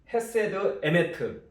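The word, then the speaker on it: חסד אמת: 이것은 헤세드 에메트 이렇게 이제 발음이 되어지는데요.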